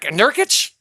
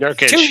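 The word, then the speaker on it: Nurkić: And then our old center, Exson, Nerich, Nerk, Nerkage, how you say it. Nerkish. Nerkish. Thank you.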